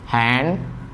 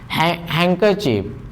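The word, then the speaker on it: handkerchief: एक वर्ड होता है हैंडकरचीफ, हैंकरचीफ, इसमें भी डी का प्रोनाउंसिएशन नहीं होता है।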